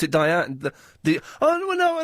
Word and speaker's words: Dian: very good taste although your name is is Dian it is how do you spell that d i a n and it's pronounced Dian it is it is